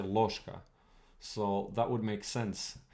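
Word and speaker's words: ложка: a lot of times the ge gets reduced right you don't say lorzka you say loshka so that would make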